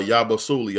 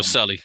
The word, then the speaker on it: Yabusele: We have hmm Yabasuli. I don't know how to say his name. I'm bad with pronouncing names, ladies and gentlemen. Yabusele.